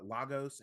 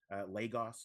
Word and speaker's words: Lagos: This is 2019 uh logos as we pronounce it here in the in the states. Lagos to everyone else.